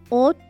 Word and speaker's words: hôte: Words which begin with a silent H. Homme, hôte, hiver, hôtel, horloge.